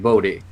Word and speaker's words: Bohdi: Yeah, it's actually Bodhi, but I don't care how people say Yeah, it.